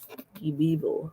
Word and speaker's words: Die Bibel: Die Bibel. That's how you pronounce it.